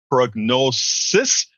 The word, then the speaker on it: Prognosus: company that you have called Prognosus, but it's spelled not I-S, but U-S.